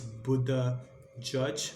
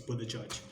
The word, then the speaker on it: Buttigieg: I think it's Buddha Judge, not how it's spelled, but I geek. I mean, it's Buddha Judge.